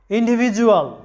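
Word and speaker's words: individual: এরপরে লক্ষ্য করো, ইন্ডিভিজুয়াল শব্দটা লক্ষ্য করো, ইন্ডিভিজুয়াল এখানে লক্ষ্য করো ডি এর আগে আছে ই, মানে আই, ডি এর আগে আছে আই এবং ডি এর পরে আছে ইউ, ডি এর আগেও ভাওয়েল পরেও ভাওয়েল, যার কারণে ডি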